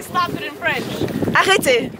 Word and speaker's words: Arrêtez: Arrêtez. Say it again. Arrêtez. Arrêtez. Exactly. There you go. Arrêtez. Arrêtez. Very cool if to roll that better? Ours. Yes, it's better. Yeah. Arrêtez.